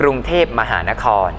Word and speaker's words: กรุงเทพฯ: ต้อง อ่าน คำ เต็ม นะ ครับ อ่าน ว่า กรุงเทพมหานคร นะ ครับ หรือ โปรดเกล้า ไป ยัน น้อย นะ